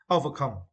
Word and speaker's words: overcome: Overcome for this word, you need to stress the third syllable come. Overcome.